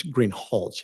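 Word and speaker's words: Greenhalgh: your honor officer Greenhall I believe I'm mispronouncing your name it's green holch isn't it correct I apologize will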